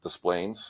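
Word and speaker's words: Des Plaines: Yes, we pronounce it Desplaines.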